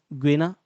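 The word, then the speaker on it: Guinea: जैसे यहाँ पर एक देश था ग्वेना, मतलब ग्वेन, उसका नाम ही ऐसा है, हम उसको हिंदी में गिनी प्रोनाउंस करते हैं।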